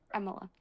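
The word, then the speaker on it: Emilia: You see why we can't pronounce it. It's Emila, guys. It's Emil, right? We're here for Emila.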